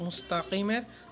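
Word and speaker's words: مُسْتَقِيم: এখানে তাক, মুস্তাকিমের বড় কাফ সশুদ্ধ করে উচ্চারণ করতে হবে, মুস্তাকিম।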